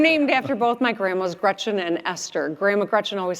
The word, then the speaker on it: Gretch: I'm named after both my grandmas, Gretchen and Esther. Grandma McCretchen always said, "Never let someone call you Gretch. It rhymes with wretch.